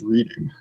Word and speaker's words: Reading: thought that's pronounced reading. It is pronounced Reading. It's named for the city.